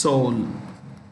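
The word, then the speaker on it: Seoul: so south korea's capitalist soul the e is silent the president is moon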